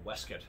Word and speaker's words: waistcoat: includes that you should have a waistcoat or or whisk it as as the pronunciation will evolve into and uh that at